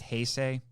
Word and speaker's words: Heisei: It's supposed to be pronounced Heisei.